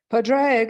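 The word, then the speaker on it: Pádraig: Padraig is the old Irish version of this name, and I'm probably mispronouncing it.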